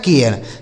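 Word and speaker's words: care: ए का उच्चारण ए आर ई से र यह लिखा गया आपका केयर इसे क्या पढ़ा जाएगा केयर समझ पा रहे हैं ना दोस्तों यह लिखा गया आपका केयर तो उच्चारण क्यों बदल रहा है इसी आर की वजह से देखिए सारे जगह पर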